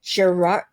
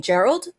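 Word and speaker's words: Gerrold: Uh this was written by No, it was written by David Gerard. Oh, how do I say his name? Gerald. Yeah, David Gerald.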